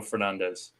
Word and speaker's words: Fernandes: We both love Bruno Fernandes. I just want to watch the game. No, it's not Bruno Fernandes, lads. It's Bruno Fernandes. Yeah, Fernandes. Fernandes is how you pronounce it in Portuguese, but you know what?